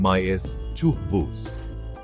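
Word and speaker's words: mischievous: मिस्चीवस, पहले शब्दांश पर जोर दें, माइस चूहवूस।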